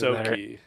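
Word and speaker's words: Ysoki: I'm not sure how to pronounce it. These are all like I said aliens. Yosoki.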